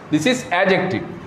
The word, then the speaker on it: adjective: Pronunciation is adjective. D is silent here. D is silent here. D এর উচ্চারণ এখানে হবে না. This is adjective.